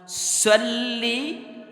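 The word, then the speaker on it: صلِّ: টান আছে এখানে টানবেন আল্লাহুম্মা সাল্লি আলা এভাবে পড়তে হবে কিন্তু আল্লাহুম্মা মাথায় টান নাই তো টানলেন কেন সাল্লি নাই টান নাই আমাদের বাংলাদেশে আমরা তো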